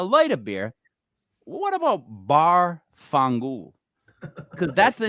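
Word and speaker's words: Barfongool: for like a light of beer what about bar fungu because that's the name of my bar and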